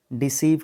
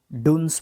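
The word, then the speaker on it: dunce: Foolish बोल सकते हो, इडियट बोल सकते हो, डुन्स बोल सकते हो, डुन्स, डुन्स, ठीक है, या डंस, हाँ वेरी गुड, डंस।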